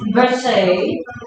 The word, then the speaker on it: Versailles: There's actually variations in the pronunciation. The French would pronounce it as Versailles. Some would also pronounce it as, the Americans would pronounce it as Versailles.